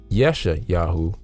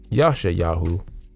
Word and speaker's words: Yashayahu: name prophets like Isaiah the anglicized transliteration of yesha yahu in the modern Hebrew but Yasha yahu in the ancient Zechariah is the anglicized transliteration